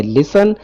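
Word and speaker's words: listen: Example लिखी हुई है, जिसका मतलब होता है लिसन। लिसन का मतलब होता है जी सुनना, यहाँ पर टी साइलेंट है।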